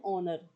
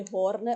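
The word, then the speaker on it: honor: अब नीचे देखिए, एन ऑनर, यहाँ पे देखिए हॉर्नर, हॉर्नर नहीं होता, हॉर्नर नहीं होता, हाथ से हम नहीं बोलते इस वर्ड को, लगाते तो एच ही है, लेकिन एच साइलेंट होता है, क्या बोलते हैं, ऑनर।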